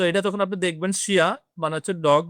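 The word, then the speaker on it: chien: শিয়া, এরকম টাইপের আরো অনেক কিছুই পাবেন, যে আই ই এন এর উচ্চারণ হচ্ছে ইয়া টাইপের হবে। সো এটা তখন আপনি দেখবেন শিয়া মানে হচ্ছে ডগ বা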